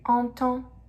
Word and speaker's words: entend: Tu entends. Tu entends. Il, elle entend. Il, elle entend. Pronounce the same. Entend is pronounced the same for all those three, okay?